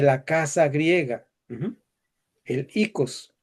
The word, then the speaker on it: oikos: El ikos, oikos, como se escribe.